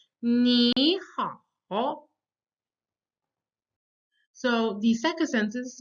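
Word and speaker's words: 你好: When you have two third tones together, you can't say ni hao. It's simply that the first third tone becomes the second tone. And that's why I said ni hao.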